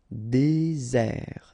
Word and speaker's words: désert: Désert, okay, remember, final T not pronounced, désert. And really this Z sound just because you get one S between the two vowels, okay?